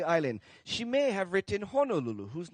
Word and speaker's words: Honolulu: safe to say that we chose in on the pronunciation of Honolulu so if you do hear anybody say Honolulu it's kind of hard especially if they're kpuna to tell them hey I'm sorry kpuna you're wrong it's Honolulu uh that's kind of